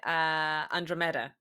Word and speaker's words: Andromeda: So I say Andromeda. But it's because in Russian, I learned the word in Russian, and then I pronounce it that way, which is closer to the Greek way, by the way.